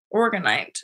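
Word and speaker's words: orgonite: you guys AR Aron no it's with an O so it's like organ organite and I was even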